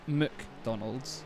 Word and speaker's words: McDonald's: not McDonald's is it it's not m-a-c it's McDonald's you don't overly pronounce the Mac but why do we